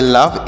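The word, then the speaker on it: laugh: पढ़ेंगे फ तोसे पढ़ेंगे लफ ए यू का उच्चारण यहां पर नहीं होगा ए यू से आ की मात्रा लिख देंगे जी एस से फ तो इससे पढ़ेंगे लाफ अ लाफ मतलब क्या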